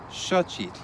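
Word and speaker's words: xochitl: pronounced sh, as in shochit, which means flower. In modern orthography, it's also represented by an X. It's similar to the sh sound in the English word shine.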